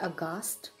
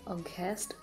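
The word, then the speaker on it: aghast: और आज का हमारा जो पहला वोकैब है वो है अगास्ट। इसका प्रोनाउंसिएशन आप अगास्ट या अगेस्ट ऐसे नहीं करेंगे, आपको इसे बोलना होगा अगास्ट।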